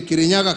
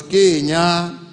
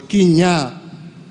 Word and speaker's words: Kirinyaga: of the mountain was Kirinyaga. According to folklore, he pronounced it in a Kamba accent, but what the colonizer heard was Kinya.